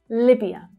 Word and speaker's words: Libya: So the first syllable there is the strongest as well. Libya.